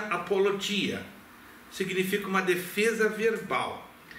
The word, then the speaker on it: apologia: É proposital que se que se pronuncia apologia, significa uma defesa verbal.